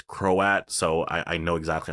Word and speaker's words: Croat: about the crow at which by the way it's how you say his name I heard the actor pronounce it it's croat so I know exactly